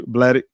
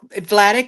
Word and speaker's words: Vladic: Blatic. How you say it? Blatic. It's Vladic with a V like victory.